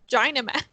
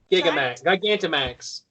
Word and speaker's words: Gigantamax: While in its Gynamax... How do you say that? I'm not reading along with you. What's the word? Gigamax? Gigantamax.